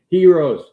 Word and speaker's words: gyros: They had gyros. They had gyros. Heroes. Yeah. You don't pronounce the G.